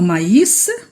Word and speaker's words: maïs: séparément les deux voyelles aussi pour maïs ça veut dire sortes de céréales donc je vais prononcer séparément les deux voiliers pour ne pas le confondre avec le mot mai et parce que mes